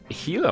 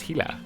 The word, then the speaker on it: Gila: like carrots and stuff the gila monster which apparently the comment section told me is pronounced hila i don't know if